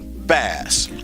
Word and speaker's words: Bass: I'd like to welcome Wanda and Kenny Bass. Am I saying that right? You're saying it right.